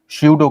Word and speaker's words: pseudo: छद्म को इंग्लिश में श्यूडो करते हैं, PSEUDO, पी साइलेंट होता है तो इसलिए श्यूडो पढ़ा जाता है, श्यूडो फोर्स।